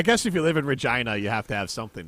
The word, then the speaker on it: Regina: It rhymes with fun. Bun. I'm in the town of Regina.